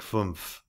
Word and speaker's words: fünf: A German of the present day would say for 11, elf, pronounced long like elf, and for 5, fünf, pronounced like fumph.